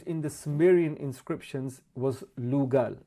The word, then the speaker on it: lugal: the sumerian inscriptions was lugal lugal consists of two syllables liu man and gal king so this is what